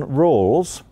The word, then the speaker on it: Rawls: American philosopher called John Rawls I'll spell that for you because it sounds like rules but it's r a w-l-s do you all know